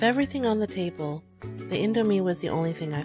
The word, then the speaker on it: Indomie: Yes, that's how you pronounce it, Indomie.